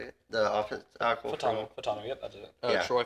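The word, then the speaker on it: Fautanu: Futanu? Is that how you say it? The offensive tackle. Fatano, yep, that's it.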